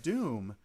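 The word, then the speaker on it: doum: called evening of doom doom is spelled d-o-u-m because the game is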